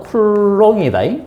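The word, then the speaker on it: Coulomb: 쿨롬 자 읽을 때 아 사람 이름은 쿨롱이다 쿨롱 사람 이름은 그 나라 사람이니까 그 나라 발음을 그대로 해 주는 거고 그다음에 아 단위는 이런 것들은 기본적으로 영어식으로 합니다 그래서 쿨롬이라고 해요 쿨롬음 쿨롬음는 쿨롬 이렇게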